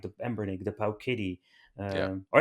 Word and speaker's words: Powkiddy: like the pampering the pow kitty yeah all right I need to say it correctly pow Kitty that's the way I